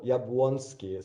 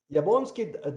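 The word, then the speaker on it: Jabłoński: yeah lonski diagram but this l is actually this uh polish so the special letter which is also used in in for a former currency lotte or yabwonsky so it's pronounced as uh actually so javonski diagram shows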